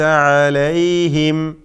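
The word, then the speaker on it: عليهم: അടുത്തത് അലൈഹിം എന്നാണ്. അലൈഹിം ഇത് അലേഹിം എന്ന് പറഞ്ഞാൽ തെറ്റാണ്. അലേഹിം എന്ന് ചിലർ ലേ കൊടുത്തുകൊണ്ട് ലാമിൻ്റെ ഫത്ഹ് അത് എകാരമാക്കിക്കൊണ്ട് പറയും, അത് തെറ്റാണ്. അലേഹിം അല്ല, അലൈ ല ഈ എന്ന സാക്കിനായ യാ, ലോലത്തിൽ ഉച്ചരിക്കേണ്ട യാ. അലൈഹിം, അലൈഹിം വ്യക്തമാക്കി ഉച്ചരിക്കുക. സിറാത്തല്ലദീന അൻഅംത അലൈഹിം.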